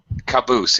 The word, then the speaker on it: caboose: Caboose. It has V, yeah, with a second syllable stress. Caboose. A noun where the second syllable is stressed.